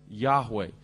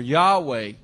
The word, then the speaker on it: Yahweh: we often say Jehovah probably the Hebrew pronunciation is something like Yahweh no one knows for